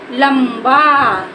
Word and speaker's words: लंबा: हमको पढ़ना पड़ जाए लंबा लंबा जब हम लंबा बोलेंगे तो वहां प हम इसका उच्चारण मा के रूप में करें जैसे हमने बोला लंबा